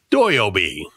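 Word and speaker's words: 土曜日: not have been Saturday it would have been doy Obi which is how you say Saturday in Japanese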